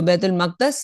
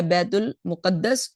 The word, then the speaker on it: بیت المقدس: مسجد اقصی، بیت المقصد، جو بیت المقدس یا بیت المقدس دونوں ہی تلفظ ٹھیک ہے اس کے، تو بیت